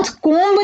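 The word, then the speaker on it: comb: उसके कुछ एग्जांपल है कोंब अब हम इसको प्रणव कम नहीं करेंगे इसको हम प्रोनाउंस करेंगे कॉम जिसमें हमारा बीज जो है वह साइलेंट है हमने इस पीपीटी में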